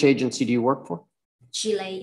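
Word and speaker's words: Shilei: do you work for chile interpreting like chile the country chili oh can you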